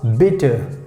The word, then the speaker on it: bitte: b i double t e and how we pronounce bitter bitter so you know you we use please